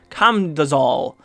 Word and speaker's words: Camdozaal: the dungeon there's all kinds of cool stuff com does all that's how you say it i promise i